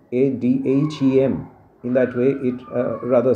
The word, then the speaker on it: Adhem: abu bain adam so be careful about the pronunciation adam a dhem in that way it